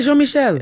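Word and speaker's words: Jean-Michel: And I was in the comments like I've already come across as pretentious if I do the franophhone pronunciation. Say Jean Michelle.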